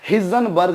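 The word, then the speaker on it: Heisenberg: और इसके अलावा बच्चों हम लोग पढ़ेंगे एक हाइजेनबर्ग्स अनसर्टेनिटी प्रिंसिपल। हाइजेनबर्ग्स अनसर्टेनिटी प्रिंसिपल या हिजनबर्ग भी इसको कुछ लोग प्रोनाउंस करते हैं, अपना अपना प्रोनाउंसिएशन है।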